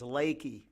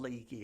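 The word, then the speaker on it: Leakey: e y Texas but it's pronounced by the locals there as laky so they probably didn't want to live in a town called leaky I don't know uh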